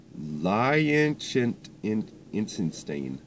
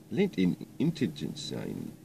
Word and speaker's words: Liechtenstein: How do you pronounce that? It's Liechtenstein. Liechtenstein.